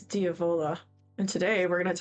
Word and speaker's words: Diavola: say the word devil in Italian while it's diola and today we're going to talk about the